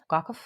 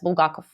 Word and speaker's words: Bulgakov: So it's making sure, yes, Bulgakov. Okay. Master and Margaret. I pronounced it in a Russian way to pronounce it, so it's probably confusing for people.